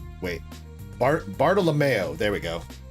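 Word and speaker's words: Bartolomeo: I'm tossing you the alternative art Bartholomeo. Wait, Bart Bartalomeo. There we go.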